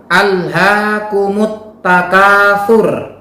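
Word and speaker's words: ألهاكم التكاثر: Saya ulang, alhaakumut takatsur. Dalam ayat tersebut terdapat bacaan al yang kemudian diikuti dengan huruf ta. Maka cara membacanya adalah al diidghamkan atau dianggap tidak ada dan langsung terbaca huruf ta-nya.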